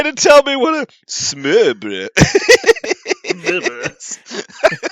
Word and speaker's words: smørbrød: Go ahead and try to tell me what a smørbrød is. It's SMO with a line through it R, BRO with a line through it D, but the D is silent.